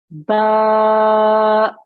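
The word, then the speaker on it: ب: Ba. Ba. Well done. Okay. When you make this sound, make sure that you've got the wet parts of your lips.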